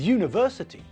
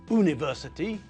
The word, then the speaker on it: university: say an hour with university uniform and European we pronounce all these words with a year sound at the front it's not university it's University it's not